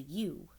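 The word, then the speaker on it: ewe: a girl sheep is a u which is spelled e-w-e and a baby sheep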